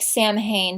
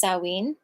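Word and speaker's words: Samhain: holiday uh sinen it's spelled it looks like Sam hay but it's pronounced saween um it is considered like a basically a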